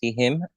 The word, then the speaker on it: Juan: and then we'll have Juan um hi my name is Juan uh I pronounce Heim uh I did my